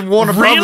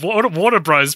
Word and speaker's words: Warner Bros: I know it's written Warner Bros. I'm sorry, you've never heard someone call it Warner Bros. No, it's Warner Brothers. Really? Yeah. Both are acceptable, but I've heard Warner Bros. Plenty of times.